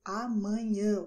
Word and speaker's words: amanhã: So you just touch the tip of your nose and you will notice that there is a vibration when you pronounce correctly amanhã with your nose, okay? Amanhã. You see that it tickles a little bit because you're using your nose to speak, okay?